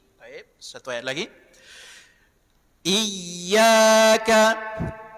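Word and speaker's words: إياك: Iyyaka iyaka tasdid huruf ya. Sekali lagi setiap yang bertasydid dia mesti nabar penekanan suara.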